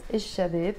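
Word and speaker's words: الشباب: I'm pronouncing it as ish-shabib.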